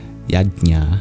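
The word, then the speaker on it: यज्ञ: scriptures in Sanskrit and it's difficult to pronounce but it's y you may transcribe it y a j n a yya anyway can be used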